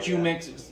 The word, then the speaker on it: Jumex: It's probably Humex, okay, but I call it Jumex. You know, that's how it's spelled.